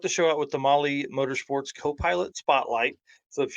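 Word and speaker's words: Mahle: for those podcast listeners Molly is spelled m ahle e all right well this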